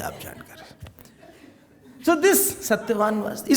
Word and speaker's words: Satyavan: Satyavan, not Himvan. Keep quiet. It is Satyavan.